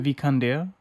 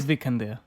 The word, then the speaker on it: Vikander: Vikander. She's Swedish, so I'm sure it sounds much better than what we're pronouncing it. It's Vikander.